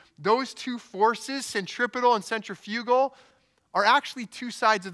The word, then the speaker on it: centrifugal: Now, I also remembered that there was this force called, I'm going to pronounce it the way the Americans pronounce it. Apparently, it's centrifugal. I thought it was centrifugal, but apparently that's British, so I don't know.